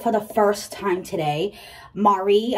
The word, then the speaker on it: Maree: the first time today Mari I think is how it's pronounced m a r e